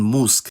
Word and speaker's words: mózg: But even with the cluster voicing rules, it should be mentioned that the word-final devoicing rule takes priority, so word-final clusters will always have voiceless obstruents, like in mózg.